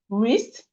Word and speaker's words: wrist: Wrist. Wrist. The W is silent in wrist.